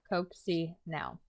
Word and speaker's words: Coccinelle: He pronounced it Coaxy-now. Could be. Audrey wasn't sure. Why? Coccinelle is French for ladybug.